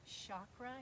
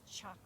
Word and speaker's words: chakra: way that chakra which i love to say with a soft sh sound chakra you will hear me say that all the time because it rolls off my tongue so easy the proper way to say it is chakra and it is a